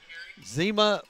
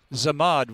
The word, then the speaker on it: Zamad: Zema Williams, I think. 31. I got it. Zamad Williams. Zamad, okay. Zamad.